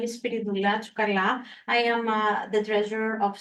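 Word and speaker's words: Spyridoula: you for having us here my name is spirala I am the treasurer of St Spirit Church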